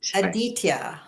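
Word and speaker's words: Aditya: And it's Adita. Aditia. That's right.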